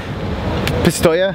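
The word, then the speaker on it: Pistoia: We've come to the Hitachi factory / facility at Postoia.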